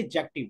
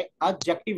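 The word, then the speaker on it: adjective: ये असल में ना हम प्रोनाउंस करते हैं आते एक्जेक्टिव बेसिकली इसमें दी साइलेंस है ए दी के की बजाय एक्जेक्टिव होता है अब मैं मुनावर आपको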